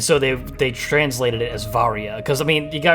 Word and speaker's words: Varia: I always, as a kid, pronounced it Varia suit, but Varia sounds right because the Varia suit is a mistranslation. It was called the barrier suit in Japan, and much like a